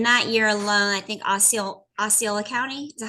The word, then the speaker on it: Osceola: And in that year alone, I think Osceola County, is that how you say it? Osceola?